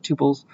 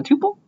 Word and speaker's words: tuple: This is how some people pronounce it tuple, other people pronounce it tuples. I pronounce it tuple because that's how I learned it.